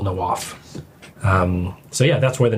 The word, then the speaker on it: Nawaf: It's not even pronounced the same way I introduce myself. So it's the actual Arabic pronunciation is Nawaf. But it's the easier way to say it's Nawaf.